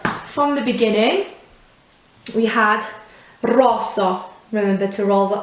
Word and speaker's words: rosso: open at the end so it's not rosso as if there was a h at the end actually rosso if you were to write it phonetically next one was just